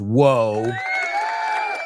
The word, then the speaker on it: woe: And that word sounds exactly like whoa.